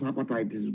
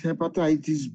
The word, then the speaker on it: hepatitis: So why are you pronouncing hepatitis B as heitis B? It's hepatitis B, not hepatitis.